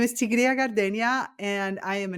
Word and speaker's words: Tigrilla: So, Tri Tigria, Tigria, the Spanish pronunciation, Tigria.